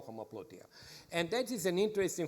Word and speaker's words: homoploutia: You've in your forthcoming book, you write about a new concept called homoploutia. Am I pronouncing it correctly? Yes.